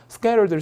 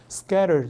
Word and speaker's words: scattered: 그래서 이렇게 낙엽들이 막 나뒹굴거나 저렇게 서류들이 막 나뒹굴고 있으면 scattered를 씁니다. 역시 모음모음사의 t를 굴리기 때문에 발음이 scattered 이렇게 부드럽게 나는 거고요. 영국 가면 약간 scattered 이렇게 나겠죠.